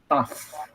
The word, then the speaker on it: tough: Ini bacanya adalah taf. Taf.